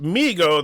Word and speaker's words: Mego: It's pronounced Mego.